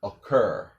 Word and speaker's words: occur: So almost think of it like the first C is silent and the second C is just like a K or a hard K. So the correct way would be accuse, occur, occupy, accurate, zucchini.